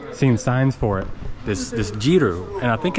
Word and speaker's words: Jeeru: You say Jeeru?